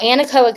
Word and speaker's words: Anechoic: it because it is beautiful um am I pronouncing it wrong I said anaco no anaco is correct okay okay okay so our name